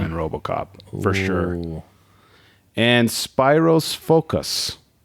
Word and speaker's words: Spyros: name is s p i r o s Spyros spos spir Spiros f o k a s